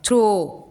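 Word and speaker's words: throw: थ्रो, ओ हो रहा है क्या? नहीं हो रहा है।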